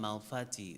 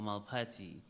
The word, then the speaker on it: Malphati: he said, I am Malfati or Malpati. So it depends on how you want to pronounce it, either Malpati or Malfati. It's spelled Malphati.